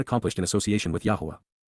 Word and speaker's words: Yahowah: the association with Beth, Yahowah, Yahowah, the proper pronunciation of the name of Eloah, God as directed in his Torah, teaching regarding his higher existence and our shalom, restoration.